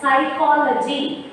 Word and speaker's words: psychology: And social science, we have two major subjects, sociology and psychology. See the spelling, children. Psychology. P will come in the front, but it will be pronounced silently.